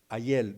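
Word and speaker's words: Hallel: Ayel, no es ayer, ¿verdad? Con el perdón de nuestros hermanos boricuas, ¿verdad? Que entonces ellos por decir ayer dicen Ayel, ¿verdad? Pero el Ayel, así como se escribe Ayel, H-A-L-L-E-L, Ayel, significa alabar.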